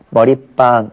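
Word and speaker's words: 머릿방: 순우리말과 한자어 사이에서는 시옷을 넣기로 했으니까 머리빵 이렇게 해야 되겠고요. 자, 그러면 노래방에는 왜 안 하느냐? 노래는 순우리말이고 방은 한자어인데 노래방은 발음 자체가 노래방이 아니라 노래방이기 때문에 그래요.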